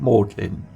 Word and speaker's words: Magdalen: Today we are going to look at Mlin College, part of the University of Oxford. By the way, it's spelled Magdalin, but is pronounced Mlin.